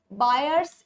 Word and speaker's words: Baeyer: That is your बयरर्स strain theory. कुछ लोग बेयर बोलते हैं, कुछ लोग बायर बोलते हैं। आपकी जो मर्जी वो प्रोनाउंस करो।